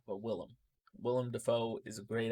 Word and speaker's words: Willem: really made me want to see it was William Dafoe I love Willem Dafoe I said his name wrong but Willem Willem Dafoe is a great actor um everything